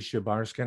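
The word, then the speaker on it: Шебаршин: So Leonid Shebarshin. How would you pronounce that? Just as you did, Shebarskin.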